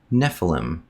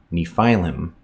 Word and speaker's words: Nephilim: small point but today the word is properly pronounced Nephilim not Nephilim Nephilim Nephilim second this is not evidence that